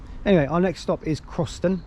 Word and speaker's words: Crossens: So anyway, our next stop is Crossens, pronounced it right that time, and we'll update you when we get on the train to go there.